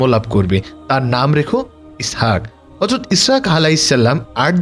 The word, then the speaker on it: ইসহাক: যার নাম হয় আইজ্যাক ইসহাক শব্দের উচ্চারণ ইয়াসহাক এটি হিব্রু ভাষার শব্দ আর আরবি অনুবাদ হয়